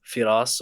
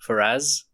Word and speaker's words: Firas: than me Faraz hello everyone my name is firas or as Andrew called me Faraz firas did I say it right no it's